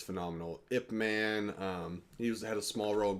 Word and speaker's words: Ip Man: A lot of people say IP Man, but it is. Well, I never saw it. Regardless. It's Ip Man, but if you want to be correct, it's Yip Man.